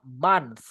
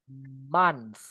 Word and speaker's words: month: Broara, Teman-teman semua kalau kita baca bulan itu bacanya month. Month, not month. Moon month dibaca kayak O gitu, Guys. Jadi, O-nya campur kayak A gitu, Guys.